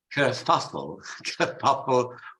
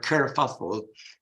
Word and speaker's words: kerfuffle: Kerfuffle or kerfuffle. It means aria fritta. And so in essence, you know, we're speaking here of kerfuffle. Kerfuffle. But it's pronounced different between American English and British English.